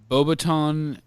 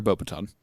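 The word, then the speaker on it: Beauxbatons: Bobbiton or sometimes pronounced Bobatan. Baton, but I prefer Bobaton and Durmstring.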